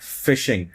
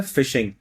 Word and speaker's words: phishing: इस लफ्ज की प्रोनंसिएशन है फिशिंग। मछली का जो शिकार होता है ना फिशिंग इसकी तलफुस भी यही है फिशिंग। अगरचे इसकी स्पेलिंग में एफ की जगह क्या आ रहा है? पीएच।